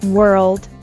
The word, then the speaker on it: world: more of the consonants make sure you pronounce every consonant sound world the world isn't the